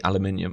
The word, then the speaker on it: aluminium: you find it hard when I say aluminium I've got one aluminium H Ingot that's because that's how we say it over here and you know I know it's spelled aluminum there but for me that is just very wrong aluminium um and that's